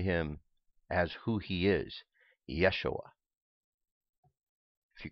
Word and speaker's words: Yeshua: used to that but I also understand the importance of Yeshua as being proper pronunciation all right now I'm